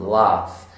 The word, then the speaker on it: laugh: Obviously, laugh ends with a GH, but like I said, it's the sound. The sound is an F sound, laugh.